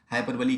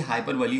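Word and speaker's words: hyperbole: जैसे मेटाफर की डेफिनेशन पूछी जा चुकी है पीजीटी 2011 में, हाइपरबली की डेफिनेशन पूछी जा चुकी है पीजीटी 2009 में। और ये हाइपरबली होता है, हाइपरबोल नहीं होता, हाइपरबोल इसका प्रोनाउंसिएशन गलत होता है।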